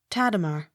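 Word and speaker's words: Tadema: h a n strawn t a d e m a tatamar accent on first syllable t o l l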